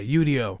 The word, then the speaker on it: Udio: And what is UDO? That's your other AI app. Am I pronouncing it right? Yeah, UDO.